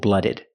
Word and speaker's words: blooded: have this word cold blooded we take the noun blood we put Ed we pronounce it Ed blooded blooded cold blooded and we have warm-blooded